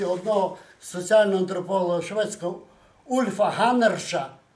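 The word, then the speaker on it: Hannerz: Я би хотів резюмувати, узагальнити в думці одного соціального антрополога шведського Ульфа Ганнерша. Пишеться Ганнерц, Z в кінці, але читається по-шведськи Ганнерш.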